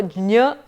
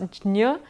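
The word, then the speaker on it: ज्ञ: is that it is a combination of J and Nya, and therefore Jnya, you go over the J really fast, Jnya would be the more accurate pronunciation of this letter.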